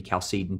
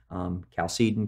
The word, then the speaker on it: Chalcedon: at Chalcedon in 451, could be Chalcedon too. There's all kinds of ways to pronounce these words. Choose the way that you want to do it. Chalcedon, Chalcedon. I've heard all of it.